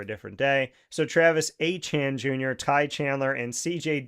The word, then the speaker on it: Etienne: a back injury, an offseason acquisition of Travis Etienne Jr., who likes to now be called Achan. He said that Etienne is pronounced Achan.